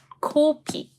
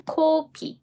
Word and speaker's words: 코피: I'm saying 코피. 코피. You need to stretch your lips vertically this time. 코피, 코피.